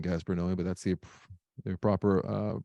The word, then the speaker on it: Gaspar Noé: I will always hate saying Gaspar Noé, but that's the proper pronunciation.